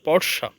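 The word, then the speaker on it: Portia: with wealthy lady name পরশিয়া তো এখানে আমি যদি সঠিক উচ্চারণটা বলি উচ্চারণটা হবে পরসা তো একবার এরকম হল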